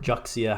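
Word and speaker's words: Juxia: here of jua um or juia however you want to pronounce it I believe it is actually pronounce jua but whatever um these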